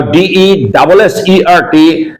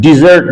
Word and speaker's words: dessert: And now DESSERT, the pronunciation is dessert, and dessert means a sweet course at the end of a meal, or sweet or ice cream at the end of a meal is called dessert. DESSERT, dessert.